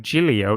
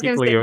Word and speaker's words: Giglio: We're going to talk about, I'm pretty sure his name is pronounced Pastor Louie Giglio. Many people are like Giglio. No, I think it's Giglio is how he pronounces it.